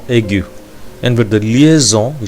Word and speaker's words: aigu: And the first one is accent aigu. And now we're going to see about accent aigu. Generally, we should pronounce this word like accent aigu.